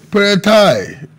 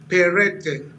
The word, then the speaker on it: Peretai: Honorable Peretai, good to have you guesting on Plus Politics. Thank you so much. Good evening. Well, the name is pronounced Perete.